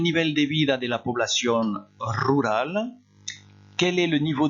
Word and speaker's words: población: ¿Cuál es el nivel de vida de la población rural? Quel est le niveau de vie de la population rurale? Faites attention, hein, population. Regardez comment ça s'écrit en espagnol. On dit bien población. Población.